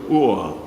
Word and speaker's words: o'er: Well, of course, I think was probably invented by poets in the Middle Ages who really needed one syllable instead of the 2 syllables, over.